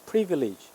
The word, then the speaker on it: privilege: 발음은 privilege예요. 강세 이름절에 있어요. privilege.